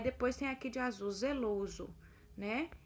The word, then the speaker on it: zeloso: Aí depois tem aqui de azul, zeloso, né? Aparece esse O entre colchetes porque é da forma que a gente pronuncia o LO, né? Que é o O fechado.